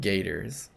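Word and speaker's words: gaiters: Things you wear to walk in. Gators. Oh, like a gate. Or at least that's how I'm gonna remember it.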